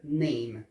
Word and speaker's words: name: E o name, o A, esse A de name, a gente pronuncia como se fosse EI, então fica name, né?